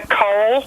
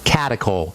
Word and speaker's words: catechol: Ask your doctor if they know about those, and I'll spell that for you. Catechol? Catechol.